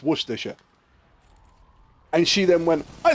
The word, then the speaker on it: Worcestershire: then did the whole break it down into Worcestershire and then it's like but you say this bit like sure so it's Worcestershire and she then went